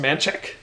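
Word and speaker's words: Manchaca: right here that is spelled uh Manaka that's pronounced manek uh the road that is spelled Guadalupe is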